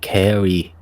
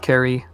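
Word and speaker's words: Cere: the notes anyway is c e r e and that could be very well pronounced carry has someone told us how it's pronounced yet or no i don't know they're dreaded but someone i might i think maybe it was awesome maybe uh the pronunciation is seer oh okay so that's not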